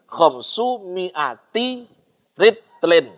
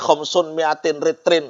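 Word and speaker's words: خمس مائة رطل: Makanya membacanya tadi khamsu mi'ati ritlin. Tidak oleh khamsun mi'atin ritlin. Oh, tidak boleh.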